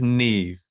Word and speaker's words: Niamh: this name wrong uh i think it's neve it's the irish spelling n-i-a-m-h that's pronounced nev right nev alga who plays